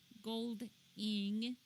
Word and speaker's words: Goldiing: I know we mentioned it before at CK gold in uh spell that out for us CK as in Calvin